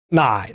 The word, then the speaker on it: 奶奶: 근데 이걸 가끔 나이나이라고 사음절로 발음하는 사람들이 있습니다. 나이나이 하면 안 돼요. 나이나이라고 발음해야 됩니다.